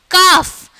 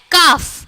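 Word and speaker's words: calf: सी ए एल एफ कफ इसमें ल जो है वो सॉरी एल जो है वो साइलेंट होता है है ना तो इसको क्या बोलते हैं काफ काफ मींस बछड़ा तो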